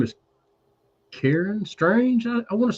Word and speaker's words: Straenge: Strange Like Me, but it's spelled STRAENGE. So you add it STRAENGE.